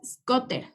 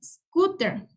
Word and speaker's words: scooter: scooter es igual scooter aquí no es scoter es scooter la doble o es como la u skateboard es patineta y